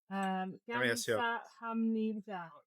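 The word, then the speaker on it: 감사합니다: Gamsa hamnida. Gamas hamio. That's right. Yeah. Is that right? Oh my Yeah. God. Slow pronunciation.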